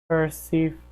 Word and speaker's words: Persephone: Syrian is pronounced Persephone.